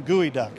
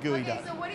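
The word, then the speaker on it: geoduck: they've never worked with gooey duck because it's hard to get. It's hard to get, and it's not gooey. It's not actually gooey. It's just a clam, and it's not even spelled like gooey.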